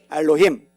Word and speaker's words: 엘로힘: 발음이라도 한번 따라서 해봅시다. 엘로힘. 엘로힘.